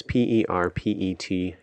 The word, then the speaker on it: Perpetua: I don't know how to say Also her pronounced maybe Perpetua? It's Perpetua.